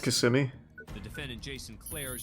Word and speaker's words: Kissimmee: a double murder trial isn't it pronounced kissimmee the defendant jason claire